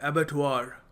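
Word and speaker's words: abattoir: इसको प्रोनाउंस करते हैं एबेट वार। एबेट वार यह होता है एक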